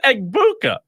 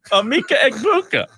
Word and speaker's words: Emeka Egbuka: It's pronounced acetaminophen, Gronk. It's Egbuka. Emeka Egbuka.